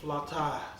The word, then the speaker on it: flautas: Flautas. Pronounced flautas.